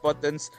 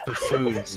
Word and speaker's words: buffoons: refrain from encouraging these butons to engage in fruitless activities the hell it's pronounced buffoons man I don't know I